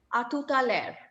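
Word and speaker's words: à tout à l'heure: A tout à l'heure. L'heure. H is silent.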